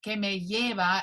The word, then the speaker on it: kavayero: Kavayero is a double L. So then we pronounce it kavayero.